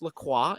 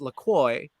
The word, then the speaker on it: La Croix: It's actually pronounced La Croix in like French, but they decided it's pronounced La Croix, like enjoy.